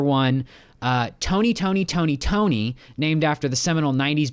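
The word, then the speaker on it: Toekne: Tony Tony Tony, except the fourth Tony is spelled T O E K N E is a threepoint wizard. Uh, yeah, like toe, like the the body part, like the body part.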